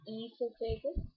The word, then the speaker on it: esophagus: So as we try to say this word, this is pronounced as esophagus. We do not pronounce the O part. we directly start saying from esophagus. O is a silent word here, alphabet here. So we say it as esophagus.